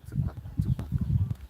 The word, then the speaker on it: Zikpak: and this is the native way of pronouncing it, Zikpak, and it means that we are pounding Zikpak.